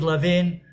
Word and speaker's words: Levin: And Yariv Levin, who is the deputy prime minister, his name rhymes with how the Pauline is pronounced in Hebrew. So she was saying, Yariv Lavin, Kanzalo Pauline, which is not, it's not Poland here.